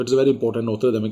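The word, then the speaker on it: Notre Dame: तो it's very important, नोत्र डेम castle. दमे बोल दिए, डैम बोल दिए, एक ही बात है, वो प्रोनाउंसिएशन में फर्क है।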